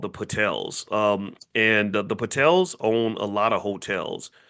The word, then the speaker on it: Patel: Um and the Patels own a lot of hotels. So it's funny that Patel almost rhymes with hotel, right?